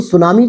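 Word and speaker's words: tsunami: आता है सुनामी तो सुनामी को आप समझिए ये एक जापानी शब्द है जिसको टी साइलेंट करके सुनामी लिखा जाता है तो इस तरीके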